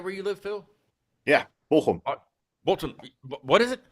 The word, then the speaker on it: Bochum: Yeah, Bochum. Bochum. What is it? How do you say it? Bochum. Bochum. You say it? Bochum.